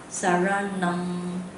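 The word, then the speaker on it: Saraṇaṁ: Okay, so you should pronounce with the curl of the tongue, but I think it's too difficult for most people. Okay, so we just pronounce this Buddham Saranam Gacchami.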